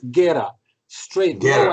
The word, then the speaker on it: Guera: So my name is Guera, straight, no accent, Guera.